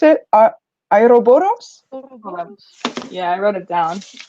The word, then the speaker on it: Ouroboros: Making a little comment to the book, the snake, I don't know how to pronounce it. Ouroboros?